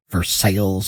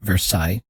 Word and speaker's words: Versailles: birds after European cities that we change the pronunciation because there's new Madrid and then there's Versailles Ohio not Versailles and there's leave and do it to ourselves